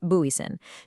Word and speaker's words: Booysen: That's pronounced Booysen.